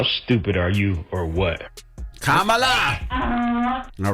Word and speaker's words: Kamala: Donkey of the day should go to all those idiots that can't say Kamala Harris and they keep getting her name wrong. How stupid are you, or what? Kamala!